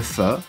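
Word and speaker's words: phở: nous ça s'appelle le FE ça sécrit pH o ça ne se prononce pas po ni faux fa donc au personnees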